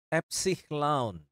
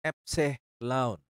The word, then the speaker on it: epsilon: pada kata dasi kemudian epsilon epsihlaun Ya seperti pada kata kakek jadi e-nya itu adalah e yang di kata kakek kalau kita di dalam